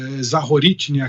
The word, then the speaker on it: Zaporizhzhia: Eu queria começar com a questão da usina aí, de Zaporizhzhia, que eu acho que essa é a pronúncia certa.